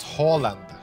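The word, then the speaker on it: Haaland: d he's like an absolute Beast that dis pronounced Holland Holland H Holland So after talking random crap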